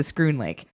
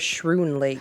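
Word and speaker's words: Schroon Lake: It's right next to Scroon Lake. Oh. So I yeah, thought it was Shroon Lake. I thought it was yeah, Shin Lake, too. it's pronounced like school.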